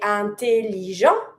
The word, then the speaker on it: intelligent: Intelligent, finishing with the t, it's a mute consonant, I never pronounce.